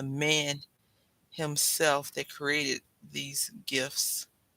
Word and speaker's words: GIF: Yeah, I remember, if you've ever seen the word GIF, it looks like it should be pronounced GIF, right? But it's GIF, like the peanut butter.